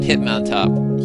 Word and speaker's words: Hitmontop: So now he's going to bring in Hitmontop.